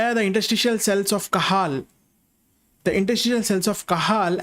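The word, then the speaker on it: Cajal: kahal please remember this interstitial cells of kahal jay is silent here industrial cells of kahal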